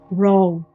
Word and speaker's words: RAW: Na verdade, a pronúncia é RAW, do inglês.